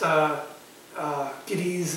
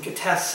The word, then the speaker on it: Gittes: His name is J.J. Guinness. Also pronounced, Giddies and Gittes, and they pronounce it all times different ways in the movie.